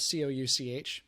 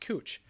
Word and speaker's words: Couch: in portland that's spelled c-o-u-c-h and most people if you don't know would would pronounce it couch because it's spelled like couch but it's actually pronounced cooch that because this guy